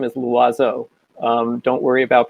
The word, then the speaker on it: Loizeaux: formal it's um my last name is lazzo don't worry about pronouncing it you can just call me